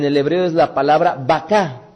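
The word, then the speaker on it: בכה: hebreo es la palabra baká, así como si ustedes estuvieran refiriéndose al animal, sin embargo es baká, que significa llorar. Bet, kauf y hei, que es la que da origen precisamente a baká, llorar, cuya frase en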